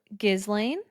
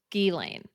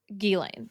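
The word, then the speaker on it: Ghislaine: And the person correcting us said it's pronounced Gilane. So, Gilane is how what we should be saying, like G E and then second word Lane.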